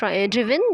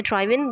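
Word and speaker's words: driven: Table में first word है ड्राइव, इसकी सेकंड फॉर्म है ड्रॉव एंड थर्ड है ड्रिवन या ड्राइवन, दोनों तरह से हम प्रोनाउंस कर सकते हैं।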